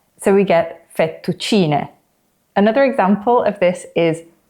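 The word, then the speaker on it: fettuccine: in Italian as an E sound like in fetuccini. But actually the letter E in Italian is pronounced as E. So we get fetuccini.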